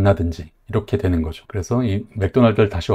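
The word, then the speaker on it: McDonald's: 이렇게 되는 거죠 그래서이 맥도날드를 다시 와 보면은 맥도날드에서 더 발음은 없는 발음이었고 그리고 발음을 찾아보면 두 번째 음절에 강세가 있습니다 그래서 먹다 은데 발음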